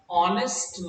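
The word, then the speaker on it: honest: लेकिन अगर मैं कहूं एन ऑनेस्ट मैन, तो आप कहोगे हाँ ये भी सही है, क्योंकि ऑनेस्ट में एच प्रोनाउंस नहीं होता, साइलेंट है।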